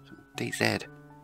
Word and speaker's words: DayZ: Dean Hall is from New Zealand and they say 'Zed'; DayZed Anyway, DayZ Ravage by Red Army.